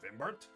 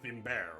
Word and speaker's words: Vimbert: uh I'm going to normally I pronounce my name as uh vimbert but we are going to go with the uh Vin bear which I think is more closer to the French pronunciation dirty blood yes something